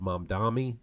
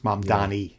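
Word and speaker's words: Mamdani: but I'm not really a fan of mom Dami who who seems to be the most high-profile mom Donnie democratic mom mom Donnie isn't that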